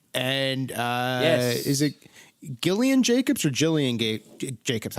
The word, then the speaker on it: Gillian Jacobs: girls on hbo and uh yeah is it gillian jacobs or jillian gabe jacobs how do you pronounce her name jillian jacobs yeah yes uh she is now guest starring